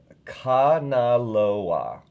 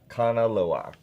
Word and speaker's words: Kanaloa: And thank you for the pronunciation. Kanaloa. Kanaloa.